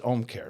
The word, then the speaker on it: Ōmcare: anyway it's not that it's just home care right correct I don't have to try and put anything home care it's like H care it's it's Home Care without the H correct okay great that